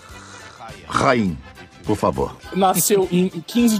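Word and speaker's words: Haim: Pronuncia-se Rain, por favor.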